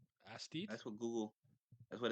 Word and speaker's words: aesthete: All things considered, so we're doing the thing where we learn how to pronounce words. Oh my god, that's the wrong. Aesthete. Aesthete.